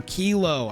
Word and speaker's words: Kilo: The Counterintelligence Precon featuring Inspirit Flagship Vessel and Kylo Apogee Mind, or Kilo. I've been criticized. Call it what you want. I've been pronouncing it Kylo like the Star Wars character.